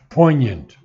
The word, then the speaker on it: poignant: sword now the word poignant is pronounced not the G is never pronounced it's not poignant the G is never pronounced poignant now of her pangs